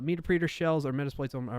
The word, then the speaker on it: Meterpreter: Like interpreter? Yeah, meter preter. Meterpreter. Meterpreter? Oh, so instead of meter preter, you're saying meterpreter.